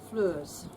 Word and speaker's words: Floors: Fleurs. Fleurs, as in the French type, Absolutely. le fleur.